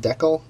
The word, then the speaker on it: Dekle: my buddy James and I believe it's pronounced decal d e k l